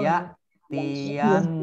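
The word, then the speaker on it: يأتينكم: Nah ini bacanya ya hamzah ya. Ini jangan keliru ya jangan nanti jadi ain kalau ya. Ini ya tiyannakum.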